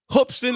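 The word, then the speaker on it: Hoopeston: that beats my South Carolina Gamecocks what folks hoopson Illinois hoopson Illinois I gotta say it right hoopson Illinois well basketball town what do you know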